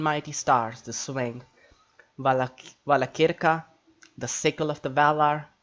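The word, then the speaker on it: Valacirca: Like CI is always kir, so CI is always the hard C, then I. So it's not Vala Sirka or Vala Chirka, it's Vala Kirka.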